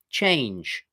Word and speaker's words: changed: All we do is we add a t sound to the end. Changed.